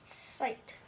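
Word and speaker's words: site: Sight. Exactly. And why is the I saying its letter name? Because the E moves over and makes it say its letter name.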